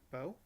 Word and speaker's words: Beau: Is Bo okay? Bo. Yeah, and it's spelled Beau.